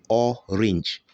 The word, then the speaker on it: orange: You have letter A here, but the sound here is E. The word is pronounced orange. Orange.